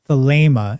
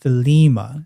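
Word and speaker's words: Thelema: But in classical Greek, that's pronounced as an a sound.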